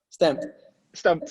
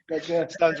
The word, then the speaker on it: STMPD: That's how you say it. Stamped. Sorry. Stamped Records. It's because there's no vowels in it.